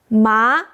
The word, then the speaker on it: má: I will say ma, low to high.